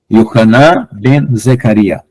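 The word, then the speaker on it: יוחנן בן זכריה: João Batista para nós vai ser Yehu. Yohanan ben Zecaria. Então, vai ser João Batista. Então, nós vamos ter algumas adaptações de nomes aqui para pronunciar corretamente.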